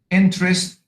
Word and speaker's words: interest: So in the word China, first syllable, Japan, second syllable, hotel, second syllable, interest, first syllable, education, education, second syllable, loveliness, first syllable, stupidity, stupid, second syllable, fantastic, second syllable, manly, first syllable.